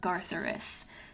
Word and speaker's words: Gartheris: of the famed dragon astronomer Gartheris, spelled like Garth as in Garth Brooks and Eris as in the goddess of discord, and that Athervox is rumored to live in the Whisperwood.